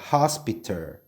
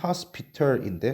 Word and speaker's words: hospital: 미국식 발음은 발음을 좀 더 쉽고 편안하게 하려는 경향이 있어서 t를 디귿이나 리을로 발음하는 경향이 있다고 말씀드렸어요. 그죠? 그래서 hospital이라고 발음을 하면 좀 더 쉽고 발음이 자연스럽죠.